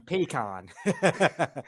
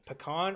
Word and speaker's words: pecan: there's a good question pecan or pecan uh I mean it depends on where you're from I know like the Georgia people typically where I'm from say pecan I I will I think pecan's more of a northern thing pecan I feel yeah